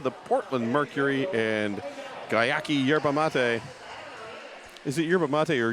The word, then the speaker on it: yerba mate: Salon, Lionheart Kombucha, the Portland Mercury, and Gayaki Yerba Mate. Is it yerba mate or yerba mate? I heard someone say yerba mate, and that felt wrong. No, it's yerba mate.